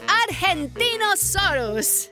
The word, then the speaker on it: Argentinosaurus: the Argentinosaurus. Whoa! That is a big name for a big dino. I have to break it up to say it right.